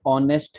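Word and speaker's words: honest: जैसे ऑनेस्ट है, ऑनेस्ट, ऑनेस्ट में ऑनेस्ट is written from H. एच इज नॉट a vowel, but when you speak ऑनेस्ट, एच is silent, ओ की sound आती है, तो इसलिए वहां पे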